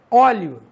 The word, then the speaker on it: óleo: O E tem som de I e o O tem som de U.